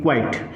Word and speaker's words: quiet: QUIET, क्वाइट। हमने क्या बोला इसको प्रोनाउंसिएशन में?